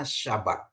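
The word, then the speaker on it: שבת: kita sudah paham ini Ini bacanya syabat ya syin Bet tap ya Sinin bet tap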